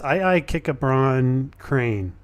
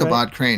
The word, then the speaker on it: Ichabod Crane: Kikabron Crane. Did I say it right? Ichabod Crane. That's my Ichabod buddy. Crane. You don't say the II. No, it's just Ichabod.